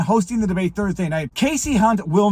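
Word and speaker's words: Kasie Hunt: in on kayy H it's not kayy Casey hunt I zoomed in on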